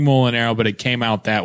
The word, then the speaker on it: Mulinaro: So, usually it's pronounced Mulinaro, and he was like, Mulinaro.